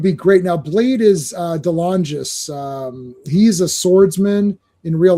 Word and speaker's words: DeLongis: So anytime there's swords in play, you're going to see Anthony DeLongis, I think is how you, or DeLongis. No, DeLongis, I think is how you say his name.